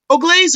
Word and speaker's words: Ogles: I'm here with Bob Bell, Big Mike, my co-host, and also our guest tonight, Barbie Jean Ogles, formerly of Carmen St. Jean, and now she's Barbie Jean Ogles or Ogles?